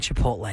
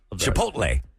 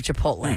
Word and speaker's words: Chipotle: on the list of the things that are mispronounced words to make you sound dumb some people really have a hard time saying Chipotle H I used to say chipot I guess with the commercials of the Chipotle maybe when the restaurant wasn't around maybe people